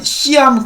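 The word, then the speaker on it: Siam: 자, 시암 커머셜뱅크라고 이제 발음을 한다라고 하죠. 시암탁 할 때 그 시암인데요.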